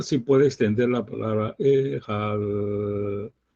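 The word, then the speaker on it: אחד: Uno, para meditar, sí puede extender la palabra ehad, pero para decirlo debe ser rápido. Ehad. Porque estamos hablando de la Aleph y cortar su pronunciación no debe ser lento para nada.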